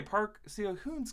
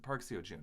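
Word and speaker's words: Park Seo-joon: it's for um okay Park see a hoon's character no I mispronounced it Park SEO June I'm sorry uh looks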